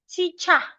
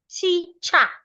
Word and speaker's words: teacher: Remember, it is the ER at the end of this word that makes the sure. Teacher. That is wrong. Why? The sure is a closed sound, remember. So I should not open my mouth when I get to the pronunciation of ER there.